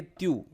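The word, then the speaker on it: tu: फिर अगर इनफॉर्मल किसी को तुम बोलना हो, मतलब यू बोलना हो, तो अपन फ्रेंच में कहेंगे त्यू।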